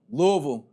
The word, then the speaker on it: Louisville: right Louisville Louisville Louisville Louisville stop trying to put the Louis in there Louisville Louisville Louisville that